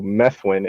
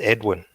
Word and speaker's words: Edwin: man maybe maybe somebody could enlighten me who meth win is what I his name is pronounced Edwin Edwin oh it is it it it wouldn't